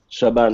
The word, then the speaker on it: Shaban: Yeah, did I say your name right? Shaban? Shaban, yeah, correct.